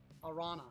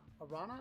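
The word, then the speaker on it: Araña: Ariana appears in, not Grande, Arana. Arana, I think maybe it's pronounced that way. Spanish spider female.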